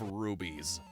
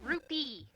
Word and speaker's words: Rupee: wrong with my brain i defaulted to the way morshu pronounces it in the cdi games as long as you have enough rubies nope rupee oh she was